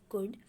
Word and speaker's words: could: इन सब के साथ हम इसको कुड बोला जाता है। स्पेलिंग है COULD, कुड।